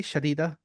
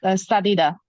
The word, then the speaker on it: Sadida: Am I pronouncing your name correctly, Shadida? Or is it Shahida? I don't know. Yeah, it's Sadida.